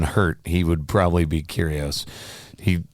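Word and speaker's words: Kyrgios: he would probably be curious he is that how you pronounce his name by the curiosity yeah um like cheerios yeah curious yeah sure we're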